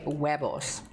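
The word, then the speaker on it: huevos: Yeah, it is H and the H is silent. So you say webos.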